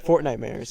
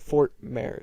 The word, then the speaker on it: Fortnitemares: Fortnite mares or whatever. Isn't that how you say it? Fortnitemares. Or is it Fort Mare? What is it? It would obviously be Fortnitemares.